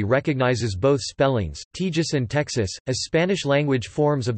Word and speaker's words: Texas: The English pronunciation with per kilo second is unetymological, and based in the value of the letter X in historical Spanish orthography.